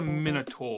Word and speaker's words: Minotaur: Okay, now if we want to talk about pronunciation, minotaur. Yeah, that's not right. That's Minotaur. Minotaur.